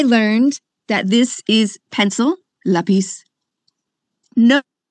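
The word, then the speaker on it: lápis: Okay, I learned that this is pencil, lápiz. No, how to actually say it correctly. It's actually not lápiz, it's lápiz.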